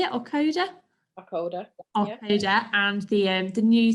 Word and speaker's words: Aucoda: Aucoda, yeah.